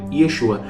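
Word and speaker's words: ישוע: Lembrando que em hebraico se pronuncia Yeshua.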